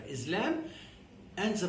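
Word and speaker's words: لام: So this letter is called lam. The name of this letter is lam, and the pronunciation is la. It gives the same sound and nearly the same shape as the L in English.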